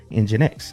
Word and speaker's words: nginx: So, we can go down there and install Engine X. And the command to do that is simply pseudo apps install NX. And it's spelled NG I NX.